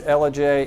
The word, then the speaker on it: Ellijay: don't know this one isn't as hard to pronounced as Dela Georgia but it is LJ and it is in Gilmore County you might